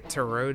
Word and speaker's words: tarot: Tarot. That's how it's pronounced.